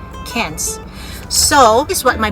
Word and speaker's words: Cairns: When you say cans, the C-A-I-R-N-S, which when you say it, the first thing you say is cairns, right? But they don't say it like that. They have to say it cans, like K-E-N-S, cans.